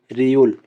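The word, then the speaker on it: 리을: এখন এটার দুইটা সংযোগ করে দিলে হয়ে যায় রিউল। দুটো সংযোগ করে হয়ে যায় রিউল। রিউল। রিউলের উচ্চারণ হবে, শব্দ যখন গঠন করব রিউলের উচ্চারণ হবে র এবং ল এর মতো।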